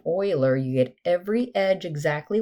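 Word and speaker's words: Euler: So remember, Oiler, it's how you say his name, Oiler.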